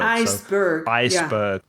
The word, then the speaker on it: iceberg: like a compound noun the stress will be on the first part of the world iceberg let's move on to